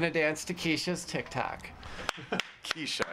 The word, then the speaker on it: Kesha: dance to Kesha's tiktock Kesha it's Kesha Kesha thank you it's a k dollar sign we should say Ed's over 30 so like can't pronounce casha I thought for the